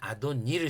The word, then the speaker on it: 아도니: 하나님을 얘기할 땐 복수를 써서 아도나이라고 하고요. 사람할 땐 아도니를 써요. 인간 주인이나 높은 사람할 때 아도니로 발음을 하고요. 그런데 천지의 주지이신 하나님한테는 아도나이라고 발음을 해요. 원래 히브리어 성경에는요요 자에 요렇게 요렇게 여기 모음자가 붙어서 구별할 수 있는데이이 모음자가 없으면은요 자만으로는 구별이 안 돼요. 근데 그들은 아도니와 아도나이로 읽죠.